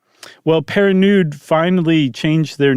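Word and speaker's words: Pernod: And Emily married another uh man, uh, Henri Louie Perionude. And Perinude. Perinude. Sorry, I was adding an extra syllable in there as I do.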